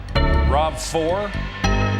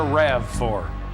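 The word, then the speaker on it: RAV4: toyota avalon odyssey celica rob4 land cruiser is that rob4 is that correct pronunciation pardon me that would be a rav for well i drive a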